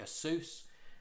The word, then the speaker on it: Asus: These are from Asus or Asus or StarTech, however you want to pronounce it. I call it Asus.